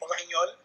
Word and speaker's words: Brignole: My name is, in the French pronunciation, it would be Brignole.